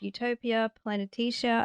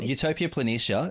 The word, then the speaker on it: Utopia Planitia: a large basin called utopia planetesia i think that's how you pronounce it well utopia planitia and lino and i